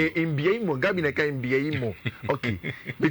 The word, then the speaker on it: Mbeumo: Only Gabi more pronunciation be. Mbeumo. Mbeumo.